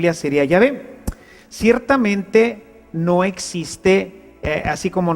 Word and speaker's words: Yahvé: De manera que yo soy el que soy se pronunciaría o se diría Yahvé. Yahvé te envía. Así es como habría sonado en hebreo antiguo lo que Dios le